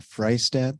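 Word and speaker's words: Freistadt: this opportunity to comment my name is freistat that's spelled f-r-e-i-s-t-a-d-t I reside in Helena and I'm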